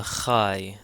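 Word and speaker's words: ϧ: Next is the kai. The kai is a kh sound. There's really no equivalent in English, but this is the it's a well-known sound in the German language.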